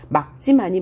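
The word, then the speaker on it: 맑지만: 막지만이라고 해야 되죠. 리을, 기역은 예외로 기역으로 발음한다. 기역 다음에 기역 외의 자음이 오면 그죠? 된소리로 발음하면서 기역 앞에 있는 자음은 기역으로 그래서 리을이 탈락된다. 막지만이 맞습니다.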